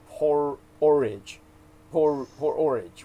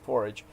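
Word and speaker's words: P-Orridge: r i d g e so it was pronounced poor orange was really how you'd pronounce it but everybody just call them Genesis porridge and uh he well the correctly you would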